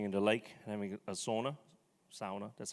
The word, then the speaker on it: sauna: and SA jumping into lake having a sauna sauna that's how it's pronounced and summer cottage actually that's our family summer cottage so That's uh just experience.